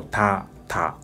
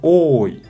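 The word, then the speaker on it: 多: como mucho, como dos letras de katakana como ta, ta. Y también hay una ventaja de recordar así, porque onyomi pronuncia ta, ta como de katakana. Kunyomi pronuncia oi, con la ayuda de hiragana más, oi.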